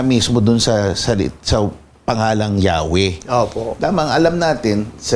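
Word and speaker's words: Yahweh: Kaya eventually yun yung universally accepted na pronunciation eh Yahwe dahil nga isinal naman ito sa ibang wika.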